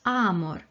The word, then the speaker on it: amor: latin is pronounced as amor because the ah is a long one and the o is short reverse the word aroma